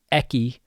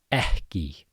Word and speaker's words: ekki: So, ekki is similar to the two K's. When you have two K's in a row, there's also pre-aspiration. So, it's not ekki, but ekki. Ekki.